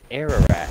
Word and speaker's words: Ararat: It's Ararat, A-R, and it's spelled A-R-A-R-A-T.